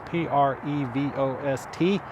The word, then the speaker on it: Prevost: research the prevost bus p-r-e-v-o-s-t the st is silent prevost it's a french company a lot of great